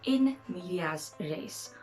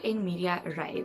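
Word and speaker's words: in medias res: up we're talking about in media's place or in media array there are different pronunciations so this means starting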